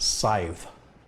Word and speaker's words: Scythe: worked since day one it's pronounced scythe scythe sent right safe like wife huh I'd be more